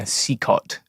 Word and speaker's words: CECOT: In this case, people are being sent to Secot, which is this prison in El Salvador. It's sometimes Can you spell that? Yeah, CECOT. Centro... Secot. Yeah, Secot. Yes. Secot.